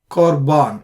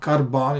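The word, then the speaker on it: qorban: work for example corbano Corban it's not carban it's Corban similar to kma however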